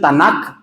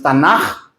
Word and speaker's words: Tanaj: en vez de k algunos le dicen tanac, pero es tanaj son los ketubim, que